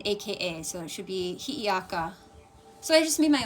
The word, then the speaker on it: Hi'iaka: It's spelled H-I-A-K-A, which would sound out Hiaka. It's not correct. It should be Hi'iaka. Hi'iaka. So it should be H-I, the Okina or apostrophe, and then another I, and then A-K-A.